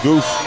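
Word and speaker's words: Guth: I thought it was uh Guff when I first met it, but it's Goof.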